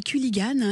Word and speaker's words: Culligan: Ça, c'est avec, comment ça se prononce ? Un Culligan ? En fait, on dit Culligan.